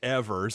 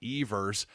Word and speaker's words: Evers: And it is pronounced Evers, I do believe, by all accounts, not Evers.